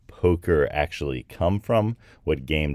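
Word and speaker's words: poque: simple coincidence now where does the whole name Poker actually come from what game does that actually come from the name comes probably from a French game called poke and that's spelled p o qu u e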